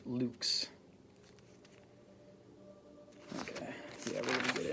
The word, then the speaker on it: lux: Moving on, light in Latin is pronounced lux.